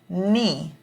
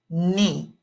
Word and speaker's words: knee: foot foot number nine knee knee this is one of those words where the K makes no sound okay the K is silent so really the only